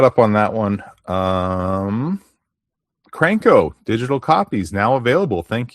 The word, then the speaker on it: Crank Knockout: Is that a Cranko? Do you know what the pronunciation is the correct pronunciation of the magazine? Crank KO? Uh no, I I'm not sure. Well, it's Crank Knockout Crank Knockout, but only one K I guess technically there's two Ks in there.